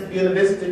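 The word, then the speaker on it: Buena Vista: who grew up in a town we pronounced as buta vista georgia connect itself with langston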